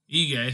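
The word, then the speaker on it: Ige: featherweight we had dan i forgot to pronounce it egay thank you moving up to 11.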